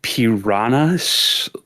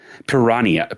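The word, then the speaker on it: Piranha: It's written P I R A N H A NS, but you don't pronounce the H, which leads me to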